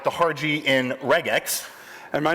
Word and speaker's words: regex: features and I pronounce regex the correct way with the soft G as in Justin potato potato all right